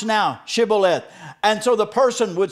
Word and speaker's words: shibboleth: word and the word when they tried to say it came out instead of shibboleth it came out sibilant well for most of